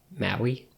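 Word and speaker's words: Mahi: people in my blood Maui yeah m-a-h-i and that's what that's how you say that's how you pronounce it I don't know yeah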